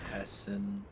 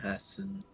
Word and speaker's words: Hesse: Herman Hesse. I don't really know how his last name is pronounced. Me neither. Hessen sounds right. But there's no N. It's Hesse. Oh, maybe it's just Hesse?